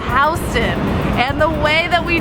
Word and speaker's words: Houston: Now, if you're from Texas, you might say, hey, that's Houston. Well, yeah, yeah, you're right, in Texas it is Houston, but here in New York we pronounce it Houston.